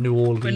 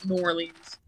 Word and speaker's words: New Orleans: on who I'm around New Orleans normally I think I say New Orleans yeah again neither is particularly wrong apparently there's some people who add an extra syllable and make it New Orleans okay they're just trying